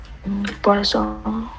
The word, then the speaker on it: poisson: Poisson. Voilà. Poisson. Poisson et poison. Poisson, cá. Alors, poison, thuốc độc. Chúng ta phát âm nhầm rồi sao rất là tai hại ha.